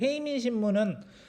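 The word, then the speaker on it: 平民新聞: 또 한편으로는 어떤 신문이 있냐면 헤이민 신문이라는 게 있는데 헤이민 신문은 한자로 읽으면 평민 신문입니다. 이거를 이제 일본식 발음으로 하면 헤이민인데 이 신문은 특이하게도 전쟁을 반대하는 글을 많이 게재를 하게 돼.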